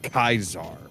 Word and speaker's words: Caesar: than the fact that they try and call him Kaisar. Yeah. They're like, "Oh, well, that's the original Latin pronunciation and not the anglicized."